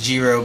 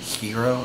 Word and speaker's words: gyro: you know that thing that's spelled gyro but sort of pronounced zero but the g is actually i think normally hero or something like that you know